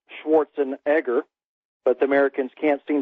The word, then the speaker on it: Schwarzenegger: first coined the phrase by Arnold Schwarzenegger actually pronounced Schwarzenegger but the Americans can't seem to pronounce the